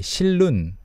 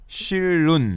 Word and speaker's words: 실눈: yeah, pronunciation-wise, what's interesting is even though it's 실 and 눈, Koreans often just link those together and say 실눈. 실눈. Yeah, 실눈, like two L's.